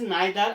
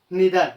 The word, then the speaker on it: neither: It's correct pronunciation is neither and neither. Both the pronunciations are correct. One is American, another one is British.